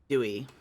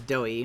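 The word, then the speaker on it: Doey: Anyway, Patex clues Dewey. It's doughy. My bad. I'm saying it wrong.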